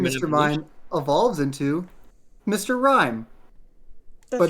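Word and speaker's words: Mr. Rime: an Mime evolves into Mr. Rhyme. That's But not right. spelled like the word rhyme.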